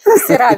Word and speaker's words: Sirra: Of course, I always have to say that I need to pronounce my name to get your country. Sirra, because I'm Sirra, so it's Sierra Leone.